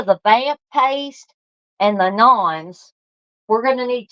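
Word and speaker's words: naan: I found out that it's not pronounced nans, it's pronounced nons.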